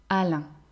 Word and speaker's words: Alain: Alain.